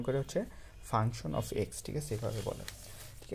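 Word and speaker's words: f(x): এটা এফ এক্স না, আসলে এটা বলে উচ্চারণ করে হচ্ছে ফাংশন অফ এক্স, ঠিক আছে?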